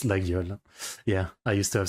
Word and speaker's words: Laguiole: There's the Legolay. The Legolay. It's a Laguiole. It's pronounced Laguiole.